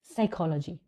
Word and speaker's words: psychology: साइकोलॉजी, तो इसमें हमारा प साइलेंट है, आवर, a sound, that is प साउंड.